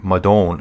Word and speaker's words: Madone: I think I butchered this in the past. And then it's the Trek Madone. So it's a Madone. Well, it is a Trek Madone.